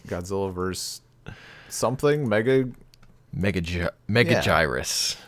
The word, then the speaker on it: Megaguirus: vers something mega mega mega gyrus yeah I definitely knew that was a soft G and then the last